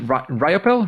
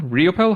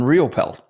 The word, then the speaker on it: Riopel: only because you said so so Robert Raymond ropel riopel how do you pronounce that one you got it on the second one riopel riopel he is an international bestselling author app designer